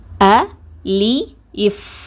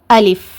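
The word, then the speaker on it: ألف: அ லி இஃப் அ லி இஃப் அலிஃப் அலிஃப் இந்த மாதிரி உச்சரிங்க. இந்த மாதிரி உச்சரிக்கிறது தான் சரியானது.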